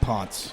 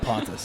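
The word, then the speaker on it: Pontes: CM Punk at CT Pon. CT Pon P N T E S. Thank you. I was going to ask you to spell it for us. Mispronounced my whole life, but it's not Pontis.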